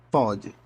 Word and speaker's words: pode: Pode, com pronúncia aberta.